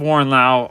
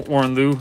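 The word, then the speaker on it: Warren Louw: nights but like man I love Warren Lao artwork or Warren Lou I always say his name wrong because I've been saying Warren Lao for like five years so properly saying it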